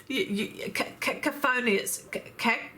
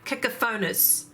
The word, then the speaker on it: cacophonous: Cacophonious. Cacophonious. No, cacophonous. Cacophonous, don't you think?